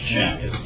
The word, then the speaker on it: Chiang: Chiang.